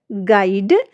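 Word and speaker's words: guide: नियम क्या कहता है, जब जी के बाद और किसी बाउल से पहले यू आता है तो यू जो लेटर है वो हमारा साइलेंट हो जाता है। स्पेलिंग से देखिए, गिटार, गार्ड, गेस्ट, गाइड, इन सारी ही स्पेलिंग्स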